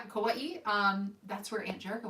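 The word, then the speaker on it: Kauaʻi: the beautiful island of i'm probably going to pronounce this wrong kawaii glad to meet you that's right yeah kauai um that's where aunt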